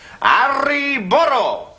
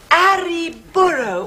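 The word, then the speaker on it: arre burro: into their sides and shout, Arri burro! Oh, and you must remember to roll your R's. Now, that's essential. Arri burro.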